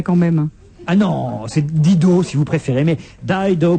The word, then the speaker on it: Dido: Non, on dit Dido. En Angleterre et aux États-Unis, cher ami. Et pour une fois que je sais prononcer comme il faut, c'est pas toi qui vas me reprendre. Quand tu vas chez un disquaire à New York ou à Londres, tu demandes Dido.